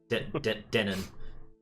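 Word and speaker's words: Dennon: with what he calls demon Army but demon is spelled d-e-n-n-o-n uh see yeah Denon Denon yeah um he gets uh promoted to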